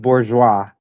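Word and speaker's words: bourgeois: is pronounced bourgeoa.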